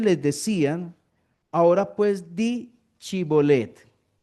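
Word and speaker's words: shibboleth: Efraín no pueden decir chibolet. Entonces los de Efraín, perdón, los de Sí, los de Efraín no chibolet, sino que decían cibolet." Y él decía cibolet porque no podía pronunciarlo correctamente.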